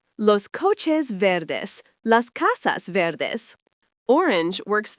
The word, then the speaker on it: verde: Verde, pronounced verde, means green.